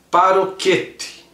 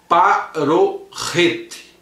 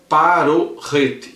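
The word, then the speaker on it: פָּרֹכֶת: ler no português, seria paroquete. Mas no hebraico a pronúncia é parorrete. Parorrete. Embora a transliteração seja um K, esse K às vezes ele tem o som de Rá.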